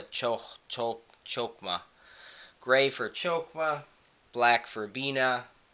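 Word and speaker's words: Chokmah: for kether gray for chokma or Hulk hogma something like it it's spelled with an H but it's more of a chokma gray for chokwa black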